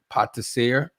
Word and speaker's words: pâtissier: I want to say it right, pâtissier.